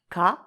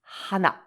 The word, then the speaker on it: 花: The Chinese pronunciation is ka, and the Japanese pronunciation is hana.